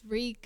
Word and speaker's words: Reek: So, yeah, Reek Reek, my name is Reek. It rhymes with bleak.